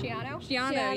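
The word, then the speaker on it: Schiano: Shiano, yeah.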